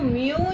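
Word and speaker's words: μ: Bar is equal to MU into H bar and this is represented and pronounce it as mu where mu is equal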